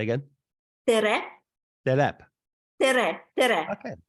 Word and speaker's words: tere: Tere, Say again. tere, Telep. tere, tere, Okay. Tela.